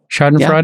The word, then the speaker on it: Schadenfreude: I literally pronounced that correct. Schadenfreude.